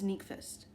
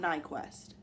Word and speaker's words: Nyqvist: Angelica, yeah, I think it's Nyqvist. It's not Nyquist.